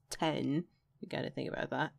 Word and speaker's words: X: The third track, simply titled 10, it's spelled out X, but it's like the Roman numeral 10, so it's 10.